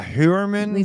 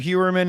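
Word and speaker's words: Heuermann: Yeah, Hewerman. It looks like it's Tag Hewer kind of, pronunciation.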